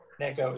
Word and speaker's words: Neko: It's Nico? I can't remember how it's pronounced. Neko is right, yeah.